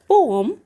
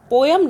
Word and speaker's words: poem: और एक यहाँ पर मैं बताना चाहती हूँ कि POEM होता है, इसको बोला जाता है पोएम, बट एक्चुअली ये इसका करेक्ट जो प्रोनाउंसिएशन है वो पोम बोलते हैं, पोएम नहीं बोलते, पोम।